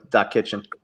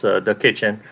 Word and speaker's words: Da Kitchen: What was your experience with growing up with Doc Kitchen? Oh yeah, well, I don't know if you're putting the wrong emphasis on the wrong syllable though, Tom, but it's the kitchen.